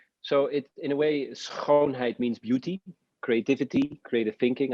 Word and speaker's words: schoonheid: I understand that your mantra is, and I'm going to butcher the Dutch, so please forgive me, is schoonheid?